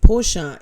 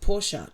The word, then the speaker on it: Porsche: Porsche is usually pronounced Porsche. Two syllables.